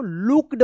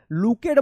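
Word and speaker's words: looked: double O के ई डी क्या पढ़ेंगे इसको लुक्ड पढ़ेंगे L double O double O है तो उच्चारण होगा लुकेड मत पढ़िएगा लुक्ड डब्ल्यू ई ए के ई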